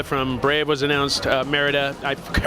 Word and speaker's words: Merida: we saw that Maleficent was an announced and Meridia from Brave was announced Merida I for pronunciation I'm a genius tell us more about